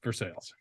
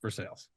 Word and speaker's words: Versailles: called or is that just how like jokul pronounce it it's for sales Versailles it's for sales that's that's a tough scene it's it's diff